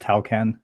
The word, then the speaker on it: Tawcan: I am delighted to have Bob from talk on I hope I'm pronouncing that right you can correct me but Bob welcome to the show yeah thanks for having me guys uh yeah it's pronounced talcan excellent my pronunciation can be a little bit